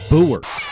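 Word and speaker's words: Bougher: juice Matthew wait wait I figured out how to say it I've looked at it no help from the audience no names please Matthew Booher I'm good I can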